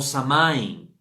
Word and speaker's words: Samhain: Esta fiesta fue bautizada con la palabra gaélica de Samhain, ¿verdad? O Samain. En muchos lugares la pronuncian diferente.